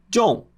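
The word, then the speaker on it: 众: Se fala da seguinte forma: John, John, John.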